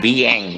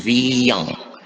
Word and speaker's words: viande: Bukan vieng ya, tapi viang. Kalau yang i-nya di sini tidak ada seperti ini, biasanya dibacanya gitu.